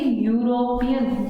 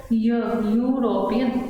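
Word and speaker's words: European: लेकिन अगर इनको प्रोनाउंस करेंगे हम तो ये यूरोपियन, य की साउंड कर रहे हैं, प्रोनाउंस करके देखिए इसको, यूरोपियन, य।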